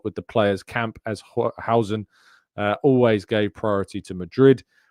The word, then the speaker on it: Huijsen: It is pronounced Huijsen. So from someone who is indeed Dutch. So I'm going to go with that. That is how you pronounce his name.